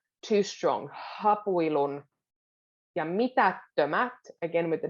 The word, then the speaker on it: hapuilun: Now, when a word starts with an H in Finnish, you can put a little emphasis on it. Hapuilun. But it's quite a soft, it's not too strong. Hapuilun.